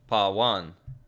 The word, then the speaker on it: Pawan: It's pronounced pa plus van. Okay, Pawan.